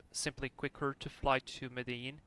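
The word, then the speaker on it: Medellín: quicker to fly to Medellin, or Medellin, how they pronounce it in Colombia. It's like with the J, Medellin. A little bit weird, but that's how they do it, so I'm just trying to pronounce it correctly.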